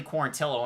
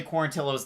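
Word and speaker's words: Quarantillo: tucker taking on billy quarantilo and matt i struggled with saying billy quarantino's name for a long time i thought it was quarantino or quarantijo but it wasn't and for gavin tucker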